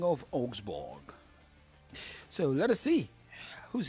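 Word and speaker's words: Augsburg: Augsborg. Augsborg is a German Bundesliga side. It's spelled A U G S B U R G. That's a spelling of Osborg.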